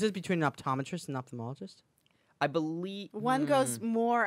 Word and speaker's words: ophthalmologist: and then there's optimal that's what it is ophthalmologist and their largest is what the difference is between the optometrist and ophthalmologist I believe one goes more eyeball you know